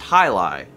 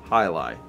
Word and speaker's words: jai alai: those sounds make okay there's enough people saying it's high lie that i'm just going to trust them hi lie hi lie a sport